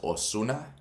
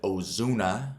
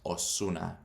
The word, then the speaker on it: Ozuna: Or my favorite artist back in the day was Ozuna. You don't pronounce it Ozuna like a Z sound. It's like basically just an S. Ozuna.